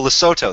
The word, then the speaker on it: Lesotho: so obviously a muslim rape gang and oh lesotho that's how you pronounce it i'm sorry i'm just i got